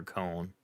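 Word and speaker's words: Köln: people don't realize uh Gamescom is in colog Germany or con the correct pronunciation and uh it's actually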